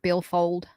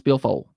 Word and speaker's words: billfold: But you got to say it like you're in the South. It's billfold. You don't use the D. No, billfold. Yeah, like BILLFOLL, billfold. There's no D.